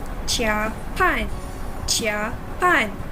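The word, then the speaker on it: 加班: The first one, pronounce the word 跑步 here as if the letter B is P. So, 跑步. Another example for this situation is 加班, which means working overtime.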